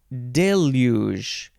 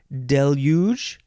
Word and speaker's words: deluge: next word is Deluge you can you can say this a few ways Deluge deluge uh this one is not so normal day you you emphasize the second um uh second syllable deluge I don't know why that's not normal Deluge and then also deluge lots of ways noun